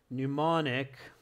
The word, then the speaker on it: mnemonic: So to help remember names of people in the reading section and their achievements or suggestions, activities, you must use mnemonic. Never spell that word right with that silent.